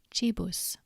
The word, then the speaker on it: cibus: C is pronounced as K in cat unless it's followed by E, I, or AE when it's pronounced as Ch, for example, crux, but cibus.